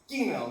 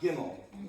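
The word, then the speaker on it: גימל: It's Gmail, not Gimmel.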